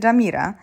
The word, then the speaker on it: Jumeirah: My zjeżdżamy na Jumeirah. Jedziemy zobaczyć Palmę i Dubai Marinę. Palm Jumeirah, co przede wszystkim czyta się Jamira, jest to jedyny spośród